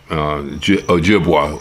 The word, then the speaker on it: Ojibwa: become involved particularly the um anishinabe La Couture Ojibwa is the way we pronounce it uh yeah they uh they not